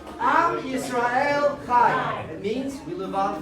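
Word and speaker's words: עם ישראל חי: In Hebrew, we say it like this. Am Yisrael Chai.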